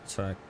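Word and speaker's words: Türkiye: The official international spelling of the country is now Turkey, pronounced Turkey.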